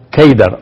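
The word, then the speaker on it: قيدار: de Cedar en árabe la palabra seda se pronuncia keider o se escribe keidara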